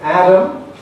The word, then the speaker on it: atom: Atom turns into Adam, and this means that the distinction between atom, the small particle, and Adam, the first man, is lost, and we have Adam for both of them.